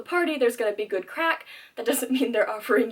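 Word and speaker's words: craic: One important Irish word that you will need to know when you're there is crack. It is not an illicit drug. Crack is spelled C-R-A-I-C, and it means good time, shenanigan.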